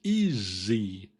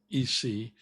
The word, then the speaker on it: easy: No, it's not e, it's easy. E, we have a z sound in there.